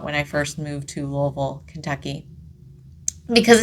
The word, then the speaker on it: Louisville: The FBI, absolutely, they came to Shepherdsville, which honestly, not that far of a drive, because Louisville, Louisville, however you want to pronounce it. I've lived in Louisville for a long time.